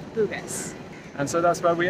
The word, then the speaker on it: Bugis: how to pronounce this is it bougie bogus according to Google and YouTube it seems to be Bugis and so that's where